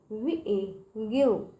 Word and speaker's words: give: लिखा है, गिव, GIVE, गिव। जहाँ पे कौन सुना, जहाँ पे बच्चों वोवेल होता है, ठीक है, तो वोवेल के बगल में अगर जी है, ठीक है, तो उसका उच्चार बच्चों ग निकलता है।